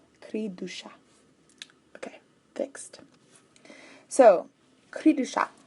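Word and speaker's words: cri du chat: they are born oops it's not duh its Creed ooh Creed do shop ok fixed so creepy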